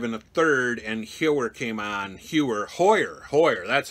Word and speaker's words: Hoyer: Hoyer, that's how you pronounce his name.